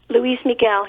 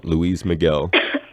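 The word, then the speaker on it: Luis Miguel: Grammy Louise MIG well is that how you pronounce his name Louise Miguel yeah we go Louise Miguel that's pretty cool it was very young at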